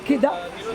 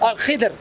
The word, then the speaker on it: Al-Khidr: No, I'm talking about, I'm not pronouncing it properly. Yeah. Kidra. The green one. The one that... Al-Khidr. Kidr. Al-Khidr, yes, Right.